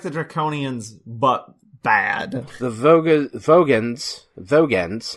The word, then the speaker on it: Vogans: Vogans, not Vogons.